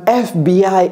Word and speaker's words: FBI: Parce que la prononciation, c'est comme si ça commençait par un E.